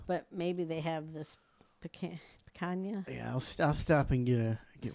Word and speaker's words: picanha: The picanha or whatever.